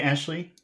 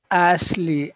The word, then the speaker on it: Ashley: you try to say Ashley Ashley Ashley that was the first one was good the second one was bad try again Ashley Ashley